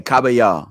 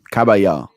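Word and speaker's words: Kabayel: four or five different organizations out there okay cabaya that's how you say his name cabaya all right so let's share let's look at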